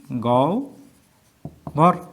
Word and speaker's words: গহ্বর: গহ্বর। তাহলে আমরা দেখলাম যে হয় বয়ের আগে যদি রস্বই থাকে তাহলে উভ হয়ে যায়, আর না হলে ওভ থাকে।